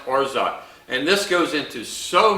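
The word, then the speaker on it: orgeat: r g a g e a but it's pronounced orza and this goes into so many different Tiki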